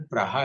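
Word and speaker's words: Praha: थे कि वहां पर जो प्राग शहर है उसका उसका उच्चारण पहा है फिर हम बोरस बोलते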